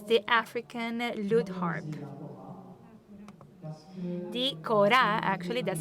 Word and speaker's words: kora: uh they move towards an enculturation of the kora which is the african loot harp the cora actually that's how it's pronounced will be modernized and will evolve because